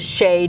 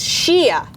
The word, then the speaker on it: Shea: up and asked it, and was introduced as Shay Diamond. And she says, "It's Shia." And when you mispronounce a trans person's name, that is a violent act.